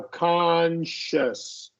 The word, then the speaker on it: conscious: So first, I want you to make short O. Conscious. sorry. Right here, short O. Conscious. And then Okay. this is a schwa.